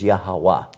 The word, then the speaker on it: Yahweh: They know that the pronunciation in Hebrew was Yahweh.